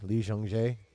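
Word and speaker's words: 이정재: Pronounced J, Lee Jung-jae.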